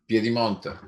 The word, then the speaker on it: Piedimonte: Giovanni Piedimonte, is that how you pronounce it? Yeah, almost. I want to hear you say it. Piedimonte.